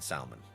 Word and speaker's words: salmon: The L is silent in salmon.